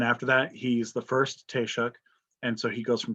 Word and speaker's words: Taoiseach: What we call the leader of Ireland is called Taoiseach. It's a Taoiseach. That's how you spell it, Taoiseach.